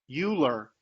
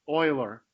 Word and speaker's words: Euler: his name looks like it's it's might be pronounced Euler but it's actually pronounced Euler and so the number E which is a